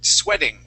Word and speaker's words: sweating: at the end uh also the uh EA here in the middle that is a short e sound the word is sweat sweating sweating and that t is going to change to a D sound sweating sweating sweating good